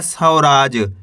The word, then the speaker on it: सौराज: सा में औ की मात्रा सौ, रामा की मात्रा रा, ज, तो मिलके बन जाएगा सौराज।